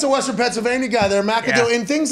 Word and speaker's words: McAdoo: uh of way pronounced it's not mick like others would say because it's a vowel